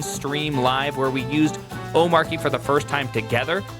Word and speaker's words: Omarchy: pronunciation, that's what is "Omarque". Okay, what What happened to the R? Where did the R go in that? You swallow it as a proper Dane.